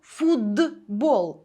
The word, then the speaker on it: футбол: як працює це правило пишемо Ми з літерою Т футбол але вимовляємо Ми фудбол і в транскрипції буде